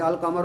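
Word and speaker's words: القمر: शमसी है कमरी है कैसे पता चला लाम प लाम पढ़ा जा रहा है जैसे अल कमर में लाम पढ़ जा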